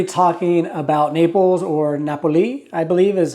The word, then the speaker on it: Napoli: Hey guys, today we're going to be talking about Naples, or Napoli, I believe is how they pronounce it there locally.